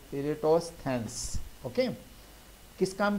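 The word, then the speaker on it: Eratosthenes: ने बनाई थी, और इनका नाम अक्सर लोग प्रोनाउंसिएट करने में प्रॉब्लम कर जाते हैं, इरेटोस्थेंस।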